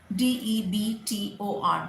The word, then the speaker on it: debtor: And the person who's taken the debt can be called a debtor, D-E-B-T-O-R, debtor. Another word which is very often mispronounced, and I keep repeating it because I